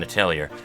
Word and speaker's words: Atelier: Apparently, people of the internet say that it is very important not to pronounce the R in Atelier.